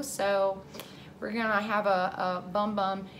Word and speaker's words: Bum Bum: we're gonna have a Bum Bum. It's supposedly pronounced Boom Boom Cream, but I feel like Bum Bum is just so much more fun to say.